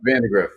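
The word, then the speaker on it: Vandagriff: left with that Brook uh how do you pronounce the last name vandergroff uh yeah Vandergriff Vandergriff Yeah couple touted guys we just haven't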